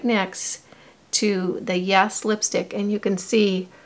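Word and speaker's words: Yaaas: This is the color Yes, and it's spelled Y-A-A-A-S. So it's Yes.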